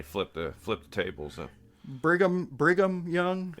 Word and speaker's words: Brigham Young: the flip the tables briam young yeah I think so I don't think it's Bram yeah no that sounds right Brigham Young sounds more writer to me